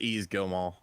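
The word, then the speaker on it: Yves Guillemot: name how do you how do you say ease easily it's ease Gilmore okay good all right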